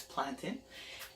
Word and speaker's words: plantain: And we all talked about how to pronounce plantain. It's plantain.